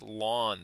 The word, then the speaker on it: ln: sciences that it gets its own name called lawn the natural logarithm which is pronounced lwn l a w n so this is the lawn of X the